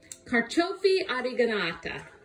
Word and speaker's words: carciofi oreganata: But pronounce it. Artichokes. Mom. Carciofi oreganata.